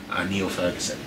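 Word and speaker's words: Niall Ferguson: by the name of Neil Ferguson. It's spelled Niall because he's Scottish, but it's pronounced Neil Ferguson.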